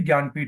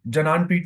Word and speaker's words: ज्ञानपीठ: Pronunciation इसकी ज्ञानपीठ होती है, जनानपीठ नहीं है, जनाना अवार्ड नहीं है ये।